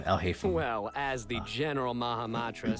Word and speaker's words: Alhaitham: a way into the that's how you pronounce his name, Alhaitham.